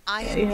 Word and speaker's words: iron: bedlam and then an iron cage oh okay almost a silent our iron cage oh yeah that's better